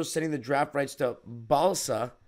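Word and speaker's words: Balša: Clippers are also sending the draft rights to Balsa, spelled like salsa with a B, Koprivica, the 57th pick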